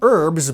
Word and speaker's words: herbs: initial and ongoing adaptation i might not pronounce the h in herbs but i do pronounce the h in history human habit hollandaise sauce these are all words from france where they do not pronounce the initial h and yet i do